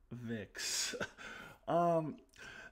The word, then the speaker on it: Twovix: So, sounds like the title of a Voyager episode that I hate, but it is spelled T-W-O, like the number 2, so I'm going to call it Twovix.